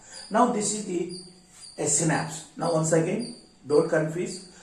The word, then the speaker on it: synapse: is called as synapse ah synapse not synapses no no it is not synapsis terminate you know pronunciation